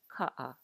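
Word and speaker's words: kaʻa: In Hawaiian, there's going to be less air. Ka'a, which is the Hawaiian word for car.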